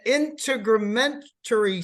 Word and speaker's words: integumentary: the respiratory system the integumentary system the endocrine yeah I pronounced that wrong didn't I it's integumentary system that's correct which is skin glands